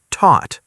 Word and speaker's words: taught: Teach is pronounced teach. Taught is pronounced taught. Repeat them slowly. Teach, taught.